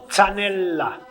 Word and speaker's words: Zanella: Então, a pronúncia é Zanella. Zanella. O L, doppio, duplo, né? Então, é zanella.